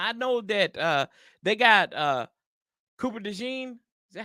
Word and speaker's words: Cooper DeJean: Now I know that they got Cooper DeJean. Is that how you say his name? Yeah, Cooper DeJean. Yeah, it looks how you say it.